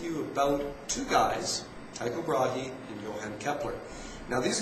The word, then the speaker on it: Brahe: it lots of different ways i usually actually pronounce it as bray or something like that but a few years ago i was actually told that it should be pronounced brahi i don't know it sounds kind of weird